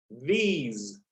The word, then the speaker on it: these: Som de Z no final. These. E som de I. Esse E tem som de I. Até porque, geralmente, o E tem som de I, né? A, B, C, D, E. These. Esse último E não se pronuncia porque, em inglês, anote. Consoante o E não é pronunciado.